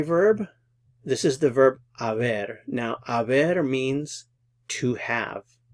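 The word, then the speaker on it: haber: verboto pero the verb Aver is the verb that we use with compound verb tenses as an auxiliary verb so notice it's the H is silent you don't pronounce the h so yo E this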